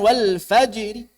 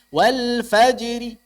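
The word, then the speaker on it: والفجر: begitu tapi saat raum bukan ikut waqaf bukan walfajri Wal faajri bukan RI tapi Wal faajri tipis Wal Fajri Wal Fajri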